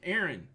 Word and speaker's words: Erin: How do you say the double A name? Aaron. Aaron. Aaron. Nobody sounds like that. It's Aaron. It's Aaron. Aaron and Aaron. Aaron and Aaron. It's like pin and pen.